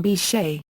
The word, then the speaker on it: Bechet: A running joke is that his housekeeper keeps pronouncing the name Beckett rather than Bechet.